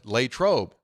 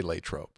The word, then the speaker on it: Latrobe: and everyone else I know from that town actually call it Latrobe and I knew that I remember I've heard people say Latrobe anyway on a different